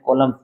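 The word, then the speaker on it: column: कॉलम का थोड़ा देखना, उच्चारण देखना, इसमें एन साइलेंट होता है। एम और एन कभी भी एक साथ आ जाते हैं तो इसमें एन का उच्चारण नहीं होता, एम का होता है।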